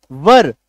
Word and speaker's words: were: तो WERE वर, उच्चारण क्या है, वर, वर वधु वाला वर, व अ आप ऐसे बोलिएगा, व अर, वर, अ का हल्का सा मिक्स साउंड आएगा, वर। इसको वेयर मत बोलिएगा, गलत हो जाएगा।